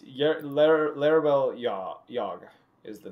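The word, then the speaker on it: Larebil: you the exact thing it is l-a-r-e-b-i-l it's larabelle yog is the name which is dash y-a-g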